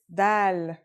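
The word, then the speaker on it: دال: notebook ready let's go our first letter is dal it's just like the english d very easy to pronounce and easy to write as well here's the isolated form dal it's a single stroke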